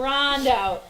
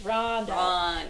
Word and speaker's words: Rhonda: said your name wrong rondo heather says it's rhonda all right okay so